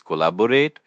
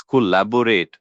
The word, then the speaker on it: collaborate: as collaborate. The stress is on the second syllable.